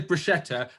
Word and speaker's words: bruschetta: UK and in Italy, bruschetta, because it's no sh, it's a sket sound.